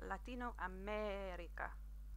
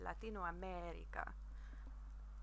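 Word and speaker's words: Latinoamérica: but I didn't but you'll see that there is an accent over the e in America what that basically indicates to you is you need to pronounce that vow a little bit longer so you'll hear my voice where I say Latino America so so practice whenever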